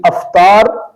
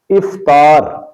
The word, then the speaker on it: افطار: مطلب ہے روزہ کھولنا۔ تو اس لفظ کو بھی الف پر زبر کے ساتھ پڑھا جاتا ہے یعنی افطار پڑھا یا بولا جاتا ہے، جبکہ اس کا درست تلفظ ہے افطار۔ ایسے ہی یہ لفظ